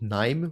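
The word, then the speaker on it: KNIME: I just used uh something called Nime, which is spelled K N I M E.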